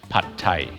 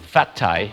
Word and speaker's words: Pad Thai: and that is called Pad Thai. Some shops might spell it with a PH. So please do not call it Fat Thai.